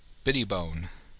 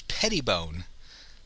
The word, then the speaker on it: Pettibone: with them named Brittany Biddy bone see if I'm pronouncing that right I always say bitty bow it's Pettibone it's not Biddy bones or brittle bone it's Pettibone and Brittany Pettibone is